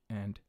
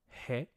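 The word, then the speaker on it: へ: and destination markers knee and a I know that this is hey but when it's used as a marker it is a okay this is another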